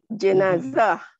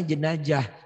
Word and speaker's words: jenazah: Jenazah. Jangan jenazah. Pakai Z. Jenazah. Kalau saya bacanya jenajah, diketawain sama orang Betawi.